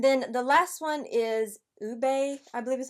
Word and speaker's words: Ube: And then the last one is Ube, I believe is how you say that, Vanilla, and this would be the more deepest shade.